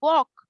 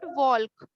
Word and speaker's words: walk: Pronunciation of this word is वॉक, वॉक। इट्स नॉट वॉल्क।